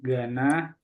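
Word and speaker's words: Ghana: jadi kayak gini ya Gana kalau Gana yang Afrika tadi jadi h-nya enggak perlu dibaca oke silakan yang ini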